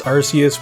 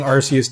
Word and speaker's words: Arceus: Pokemon Legends Arceus was probably a top 3 Pokemon game I've ever played for me, at least top 5.